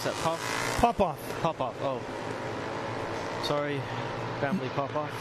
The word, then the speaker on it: Popoff: How do you pronounce that? Popoff.